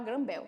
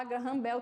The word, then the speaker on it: Graham Bell: Graham Bell Graham Bell ta dependendo aí da pronúncia eu gosto de falar granbel Tá bom mas se você for jogar no Google Translate pode se falar agarram Bel também ok tá aqui a foto